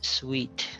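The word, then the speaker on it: suite: the noun form okay the next word is read as sweet like a a room in a hotel I have a sweet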